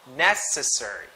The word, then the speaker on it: necessary: nation nation nest nest necessary necessary necessary NASA surgery necessary so the stress is in the first syllable necessary if not necessary it's